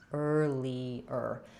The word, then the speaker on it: earlier: So this one, even though it's spelled like ear, just has the sound, no glide in the first part, just lee, and then another earlier.